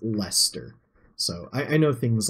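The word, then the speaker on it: Leicester: best to say these I know like Lester that's how you say it that's my dad has grilled that into me um because there's Lester Square in England even though the English like to spell things terribly because there's a there's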